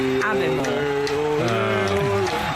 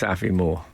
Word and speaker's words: Aviemore: I'm sorry to write in on your day of celebration with a correzione, but Aviemore is pronounced Aviemore.